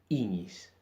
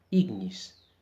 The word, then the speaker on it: ignis: Por ejemplo, en las palabras años, añosco, iñis. No decimos años, añosco, ignis, sino el sonido seco de la ñ.